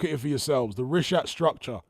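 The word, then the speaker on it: Richat: The rishhat structure. It's spelled R I C H A T. Rish.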